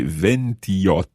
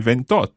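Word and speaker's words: ventotto: Now, you'll know that the word for 8 starts with a vowel, so the same thing is going to happen as happened with 21. 28 is? 28. 28. So you don't say 28, you say 28.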